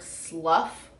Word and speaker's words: slough: also talked about how the word Slough is spelled SLO ugh it's got F on it when you say it yeah slob slaughtering off